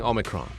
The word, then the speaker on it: omicron: the bbc world service and uh they're saying omicron and they have a pronunciation department you see they have like literally